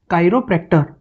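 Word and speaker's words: chiropractor: Next जो word है इसका प्रोनाउंसिएशन होगा कायरो। इसमें CH जो है वो क का साउंड दे रहा है, क का, तो इट्स कायरोप्रैक्टर।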